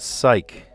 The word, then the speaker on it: psych: Psych, mnemonic, knee, and gnome. Sounds the same if you drop the first letter.